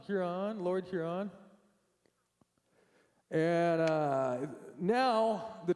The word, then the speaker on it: Huron: I don't know how to pronounce the second word, so. You are correct. It's Huron, Lord Huron.